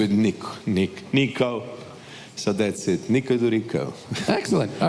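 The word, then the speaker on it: Đuričko: But try with Djokovic, that's the G, so Djuricko. But the best I get from Americans is Djuricko. It's like Duran, but nevertheless, it's okay.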